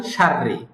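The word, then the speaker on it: شَرِّ: কিন্তু আরব শায়েখরা বা আরবরা এটা উচ্চারণের সহজ অর্থে র দুইটা উচ্চারণই পাতলা করেন সাররি করেন নট সাররি এরকম বলেন না উনারা সফটলি দুইটাই পাতলা করে বলেন সাররি সাররি তো আমরা এভাবেই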